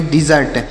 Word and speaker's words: desert: DESERT DE से पढ़ेंगे ड और SE से पढ़ेंगे ज, R से पढ़ेंगे ड और T से ट, तो इसे पढ़ेंगे डिजर्ट।